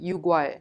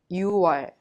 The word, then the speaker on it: 유월: If you add 월 to 육, the number 6, it becomes 육월, but we don't pronounce it 육월, just you pronounce it 유월. 유월.